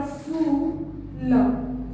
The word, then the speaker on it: फूल: से करेंगे कुछ, और जब हम लोग बड़ा ऊ की मात्रा में आते हैं तो उसका उच्चारण हम लोग वैसे ही लंबे समय में करते हैं, थोड़ा समय लेके करते हैं।